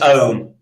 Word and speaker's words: Om: It's Om. It's pronounced Om. Yeah, like the devil.